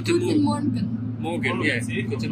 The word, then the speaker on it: Guten Morgen: Guten morning. Is it guten morning? No, sorry, it's guten morgen.